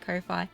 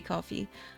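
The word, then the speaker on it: Ko-fi: Rock lab over at Kofi or coffee I'm not sure actually how people pronounce it I always read it Kofi but I know it's meant to be coffee um that's also a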